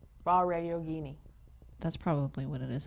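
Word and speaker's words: Vajrayogini: I don't want to pronounce the J to make it sound. Vare Yogini.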